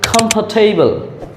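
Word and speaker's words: comfortable: কমফর্টেবল এর উচ্চারণ হবে কমফর্টেবল কাম ফোটে কমফর্টেবল কমফর্টেবল এখানে কাম ফৌ এই আর এর উচ্চারণ হবে না তারপর কমফর্টেবল যার অর্থ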